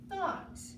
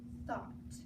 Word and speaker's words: thought: GH is also silent in the word thought. Okay, it comes after two vowels, the O and the U, so it doesn't make a sound either. So that is thought.